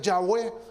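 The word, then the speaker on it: Yahweh: que no llevaba consonantes y se pronunciaba lo pronunciaban ya ve verdad ellos lo decían de esta manera de yagüe así pronunciaba en el nombre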